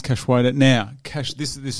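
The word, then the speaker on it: Cachoeira: against priscilla cash waiter i actually worked out how to pronounce that right it's cash weighed weighted now cash this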